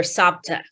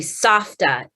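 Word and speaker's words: סבתא: My sister and I, we called her Sapta. It's actually Safta in Hebrew, but we couldn't pronounce it.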